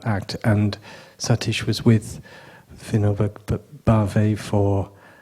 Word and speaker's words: Vinoba Bhave: And then there was a disciple of Gandhi, and I'm bad with the pronunciation, but you're going to tell me, Vinoba Bhave. Vinoba Bhave, thank you.